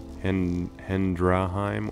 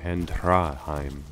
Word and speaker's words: Hendraheim: Hendraheim or Hendhraheim. With the H it sounds a little bit more Nordic. Hendhraheim. Or maybe that's just an accent.